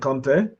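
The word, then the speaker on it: Kanté: in the sense that in French it's Kante, but in Malian it's Conte. And he is Mali. I think the name is Malian. It's a family name. So technically, it should be Conte.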